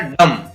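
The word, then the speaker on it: dumb: इसी प्रकार डम, यहाँ पर इसको पढ़ेंगे D-U-M, D-D-M, डम, बी साइलेंट रहेगा।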